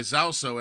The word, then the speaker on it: Zauso: Well, it's spelled Zauso, right? Zauso.